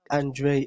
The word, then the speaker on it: Andre: Is it Andre or Andre? Can you correct me? No, it's Andre.